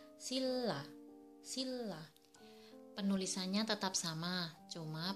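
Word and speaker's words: 신라: Untuk contoh yang pertama adalah sinra, harusnya dibaca sinra, tapi yang benar pengucapannya adalah silla.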